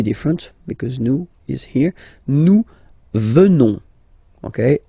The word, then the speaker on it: venons: Nous venons. Okay? O-N-S, classical ending for nous. Okay? Final S not pronounced. So O-N, on, venons, venons. Nous venons.